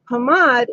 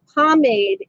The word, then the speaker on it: pomade: realized wait a second it's Hammad in French it's pomade in English so certain words I